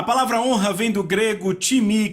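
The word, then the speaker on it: τιμή: A palavra honra vem do grego timi, que se soletra time, T-I-M-E. Eu digo time porque é a nossa pronúncia, mas se pronuncia timi, e quer dizer uma valorização.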